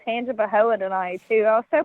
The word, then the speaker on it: Tangipahoa: can't pronounce it oh i had it spelled wrong last time so i thought it was tanja fahola and then you're like